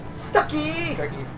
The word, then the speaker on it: Stucky: Stucky. He's waiting for us. Which rhymes with Kentucky?